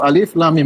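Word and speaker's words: الم: sebagai kata sebagai kata ketika Allah mengatakan Alif Lam Mim kita bacanya satu-satu Alif Lam Mim bukan kita baca alam ini bacanya Alif Lam Mim bukan alam bukan Alim bukan alam ya seperti itu ya Eh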